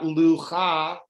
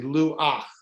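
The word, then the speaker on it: לוח: And then again, not lucha, but Luah. exactly luach. Luach.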